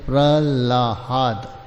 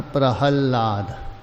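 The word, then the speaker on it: प्रह्लाद: वनतेरू प्रहलाद सचास में और कुछ लोग उच्चारण करते हैं प्रला हाद प्रले लिखते कुछ प्रांत विशेष प्रहलाद बोलते यहां प्रहलाद लाद धातु है अकार पहले है लकार बाद में किंतु विशेष प्रांत में प्रल्हाद बोलते ला पहले बोलते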